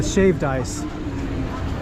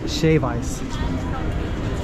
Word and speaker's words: shave ice: Yeah, shaved ice. Or just shave ice. You don't say the D.